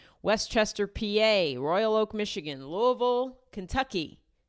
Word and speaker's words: Louisville: PA Royal Oak Michigan Louisville Kentucky Lou got to say it like you have a mouthful of balls masselon Ohio Fort Wayne